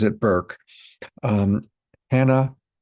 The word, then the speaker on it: Bourke: I've been calling it Burke for a dozen times and I have to keep remembering that she pronounces it Burke. Um Hannah Burke, burke ke.